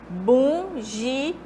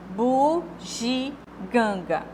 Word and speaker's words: bugiganga: Geralmente as pessoas trocam, né? Bugiganga. Então, tá havendo uma nasalização aqui do U, né? E na outra pronúncia pode-se também nasalizar o gin, né? Bugiganga. Mas como é o correto? Bugiganga, ok?